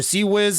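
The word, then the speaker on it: CIWS: of turrets is primarily just spamming Swiss or Sea-Wiz. I guess most of you guys, before you guys get triggered, I know how to say it, I just like to call it Swiss because you don't really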